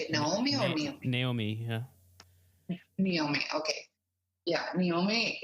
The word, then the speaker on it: Naomi: Naomi, yeah.